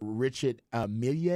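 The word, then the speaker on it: Richard Mille: didn't get her promise Richard Amelia is how you say the watch like the Emilia um and a bit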